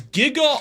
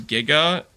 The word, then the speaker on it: giga: okay you guys realize the G is giga is pronounced J right sh a worry